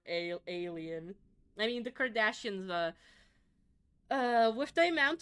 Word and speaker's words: Kardashian: Uh for the Kardashian like daughters, uh their dad You know, Kardashian is a an Armenian surname and it's not pronounced Kardashian.